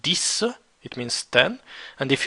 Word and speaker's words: dix: D-I-X, it's pronounced dis, it means 10.